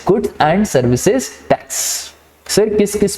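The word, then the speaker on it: Goods and Services Tax: ठीक है, बहुत सारे लोग बोलते हैं गुड्स एंड सर्विस टैक्स, that is wrong. The correct pronunciation is गुड्स एंड सर्विसेज टैक्स।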